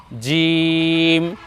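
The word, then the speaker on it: جيم: নুক্তা এর নাম হল জিম এ বর্ণ আমরা উচ্চারণ করব জিহ্বার মধ্যখান তার বরাবর উপরে তালুর সঙ্গে লাগিয়ে জিম জি নিচে এক নুক্তা দিয়ে এর নাম হলো জিম আমরা উচ্চারণ করব জিম জি আমি হাত রাখছি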